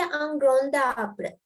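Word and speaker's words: un grand arbre: Look, D is pronounced as T. So here, look, it's ungrown tabre. The T sound, ungrown. I didn't say ungrown tabre.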